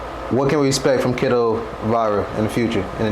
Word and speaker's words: Keedo Viraa: Keedo Viraa, like K-E. Because from other people I was hearing Viraa. Yeah, I mean, like some people say Viraa too. Yeah. I don't mind how they say it, but like the proper way I say it is Keedo Viraa.